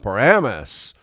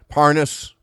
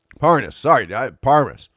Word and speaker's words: Parnas: And then we have the Paramus. I think that's the right pronunciation of this guy's. Parnas, Fruman. Parnas.